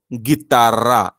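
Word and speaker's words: guitarra: चा जसा क होतो तसंच इथे ए ओ किंवा यु या तीन पैकी एक अल्फाबेट जी नंतर आलं तर तो ग असतो किंवा या खे स्पॅनिश खे नंतर आलं तर तो ग असतो म्हणून आपण इथे गितारा असं वाचतो गितारा गितारा आणि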